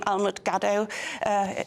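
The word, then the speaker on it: Almut Gadow: Well, if they Google my name, Almut Gaddo, if you can figure out how to spell that.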